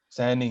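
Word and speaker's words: Saini: Is that how you pronounce his name? Sani, yeah, Sani.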